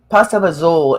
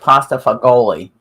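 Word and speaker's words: pasta e fagioli: like it um yep pasta bazool if you see it on a menu it looks like pasta for goalie but it's pronounced pasta bazool in italian and it's really good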